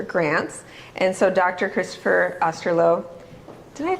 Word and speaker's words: Osterloh: Christopher Osterloh, did I pronounce it right?